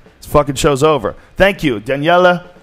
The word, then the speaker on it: Daniele: show's over thank you Daniela danela I say it right you got it Daniela B my friend